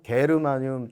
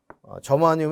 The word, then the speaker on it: 저마늄: 이것을 뭐 2000년 이후가 가면서 아 이건 뭐 저마늄이라고 합시다 하는 거 학회에서 자꾸 얘기를 해가지고 저마늄 이름 바뀌었습니다 이렇게 얘기도 하지만 저마늄은 저 영어 발음이고요 게르마늄은 독일 발음입니다.